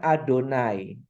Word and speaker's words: YHWH: Israel menyembah yahwe ingat yhwh itu sebenarnya dibacanya adonai ya adonai orang Israel pantang menyebut nama yahwe Jadi kalau yhwh mereka bacanya adonai jadi bangsa Israel itu